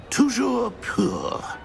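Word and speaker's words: Toujours pur: Tujour poor.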